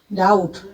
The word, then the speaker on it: doubt: डाउट, DOUBT, डाउट, इसमें भी B silent होता है।